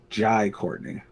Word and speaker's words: Jai Courtney: Jai Courtney.